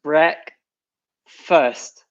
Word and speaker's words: breakfast: then finally we have breakfast I'll finally liqueur so again for the pronunciation we don't say fast we say break first it's very closed mm-hmm so not on